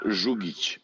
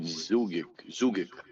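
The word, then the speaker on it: Žugić: It's pronounced Zhugic, but like here, people call it Zugic.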